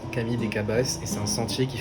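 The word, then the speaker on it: Camí de Cavalls: Pour se rendre au mirador, il faut suivre le Camille des Cabais en plein montage. Alors non, ça ne se prononce pas comme ça, ça se prononce Camille des Cabaiss et c'est un sentier qui fait le tour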